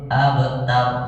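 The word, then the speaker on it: أبتر: tar ab abtar abtar jadi kayak kita dengar aba aba kok kayak ba ya ya memang begitu Jadi bukan fathah sebenarnya Tapi antara fathah dan sukun pertengahan AB gitu Pak Sulaiman bisa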